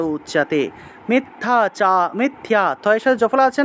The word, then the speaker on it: উচ্যতে: মিথ্যাচারঃ, চারঃ স উচ্যতে, চয়ের সাথে জফলা থাকায় চিয় উচ্চারণ, উচ্যতে, উচ্যতে এইভাবে উচ্চারণ করবেন। এখন আপনারা যদি উচিয়তে উচিয়তে বলেন হবে না, উচিয়তে বললে হবে না, উ চিয়াতে, চিয়তেটা একসাথে বলতে হবে, উ চিয়াতে, উ চিয়াতে, এইভাবে।